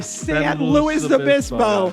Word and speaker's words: San Luis Obispo: Or San Luis Obispo.